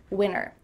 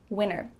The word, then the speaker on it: winter: It's fine to do that, but when native speakers speak fast, you're gonna hear winner, winner.